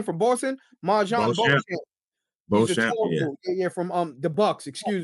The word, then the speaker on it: Beauchamp: Beauchamp. Is that how you say his name, from Boston? Marjon Beauchamp. Beauchamp, yeah, from the Bucks, excuse me.